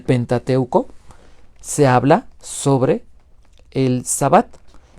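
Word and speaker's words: שַׁבָּת: el sábado el sábado Cómo se dice la palabra es shabat Y aunque muchas personas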